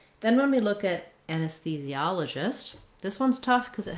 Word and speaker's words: anesthesiologist: So our primary stress on anesthesiologist is on the ah syllable, and that letter O says the ah sound.